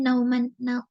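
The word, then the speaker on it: Nouman: Bacanya gimana sih? Nauman gitu ya.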